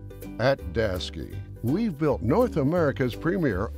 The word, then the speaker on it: Daseke: at daski we've built North America's Premier open deck specialy